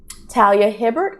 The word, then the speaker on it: Talia Hibbert: actually surprised i did not get a um talia hibbert that's how you say her name the brown